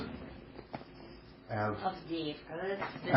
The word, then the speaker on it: Avdiivka: Avdate. Pronounce it. Avdiivka.